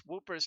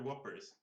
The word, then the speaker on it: Whoppers: Never heard anyone pronounce whoopers like that. Well, uh, I'm yeah. I've been trying to tell them they're Whoppers.